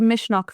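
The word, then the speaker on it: Misneach: So it's called Mishnock Festival. Mishnok. Okay. Mishnock is the Irish word for courage. Oh, okay. Um, Right. yeah. And so Mishnock it's the first year that it's happening.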